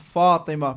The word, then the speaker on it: Fatima: She said her name is pronounced Fatima, pronounced like the daughter of the Prophet.